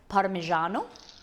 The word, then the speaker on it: Parmigiano: um joey is it parmesan how do you pronounce it molly we say parmesan but like in italian it's parmesan parmigiano so i suppose it's closer to you're saying